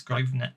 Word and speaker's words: Grosvenor: Yeah, it's Grosvenor.